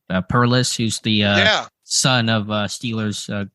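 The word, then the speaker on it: Perles: Perlis, who's the son of Steelers, great defensive line coach George Perlis.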